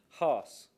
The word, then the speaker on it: Haas: by Charlie, how do you pronounce his surname? Haas, yeah, That who sounds good enough.